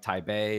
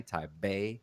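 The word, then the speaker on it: Taipei: weird um and like type a is spelled t-a-i-p-e-i but it's pronounced t-a-i-b-e-i type a yes so like why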